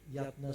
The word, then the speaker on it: Jatna: My name is, they should be pronounced Jatna because this Y, it's old vocal Dutch, during the Dutch, so my father, but because of that, so I'm still using Jatna.